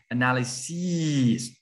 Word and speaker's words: analyses: You just change an S to an E and you pronounce analyses.